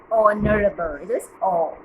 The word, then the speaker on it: honorable: so your h so h is silent so it is start the honorable zen yes bubble so